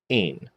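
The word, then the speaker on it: ἦν: Eta makes what sound? A, n, ain.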